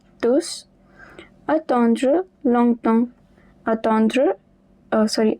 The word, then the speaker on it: tous: Mais si je ne passe pas maintenant but but if I do not pass now, maintenant, vous allez tous the S at the end is pronounced tous.